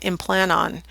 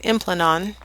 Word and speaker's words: Implanon: Today we have one on the market called Implanon, or as some people pronounce it, Implanon.